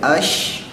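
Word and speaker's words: ش: Ketika sin dibacanya jadi as, ketika shin dibacanya jadi ash.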